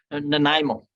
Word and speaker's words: Nanaimo: How do you pronounce the name of your town there again? Nanaimo.